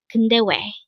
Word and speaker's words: 근데왜: This is composed of 3 syllables. The first one is kun, second syllable is de, and third syllable is we.